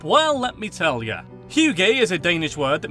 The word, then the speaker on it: hygge: Okay, that joke is great, but it's ruined by the fact that it's pronounced hygge.